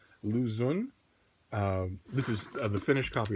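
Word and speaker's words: Lu Xun: Lou is his first name. And then X-U-N. Zun. Lou Zun.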